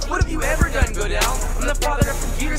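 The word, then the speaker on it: Gödel: What have you ever done, Godel?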